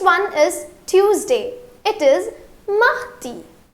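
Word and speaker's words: mardi: It is mi.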